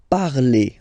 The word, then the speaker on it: parlez: Vous parlez. Okay, remember a Z, when you combine them together, you get the sound E.